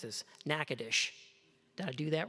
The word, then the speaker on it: Natchitoches: I'm not from Louisiana, but I've had to learn how to pronounce this. Natchitoches. Did I do that right? Okay, Clint's nodding, so that's good. Natchitoches, Louisiana, where she received her BS in biology